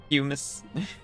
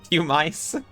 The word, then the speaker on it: pumice: Pumas. Pew mice. No, don't pew the mice. I can't put my hands up. It's the best I can do. My pumice rhymes with hummus.